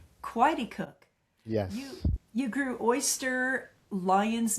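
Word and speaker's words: Coaticook: You had partnered with a well-known chef and had a small operation in, is it pronounced Quaticook? Quaticook. Quaticook.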